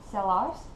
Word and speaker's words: Sellars: For example, most final consonants are not pronounced, such as, again, my name, Sellars. It kind of drops off at the end, so it's Sellar.